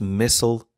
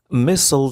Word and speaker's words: missile: عنوان مقال اليوم هو North Korea fires suspected submarine launched missile into waters of Japan. missile تعني صاروخ وتنطق missile أو missile.